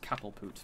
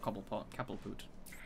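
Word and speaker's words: Cobblepot: i should appreciate this pronounced cattle poot but you know not cobble park booth nope glide back no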